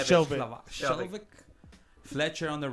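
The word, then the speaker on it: Skjelvik: Shelvick.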